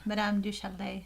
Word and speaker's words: Madame du Châtelet: Madame du Châtelet.